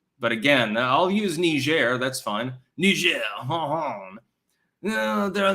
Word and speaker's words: Niger: an invasion does seem possible chance God it's pronounced Niger French for your information I think that they